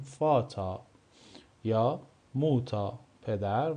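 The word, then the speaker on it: Vater: مثل فاتا مثل موتا ما این رو نمی‌خونیم فاتر می‌خونیم فاتا یا موتا پدر و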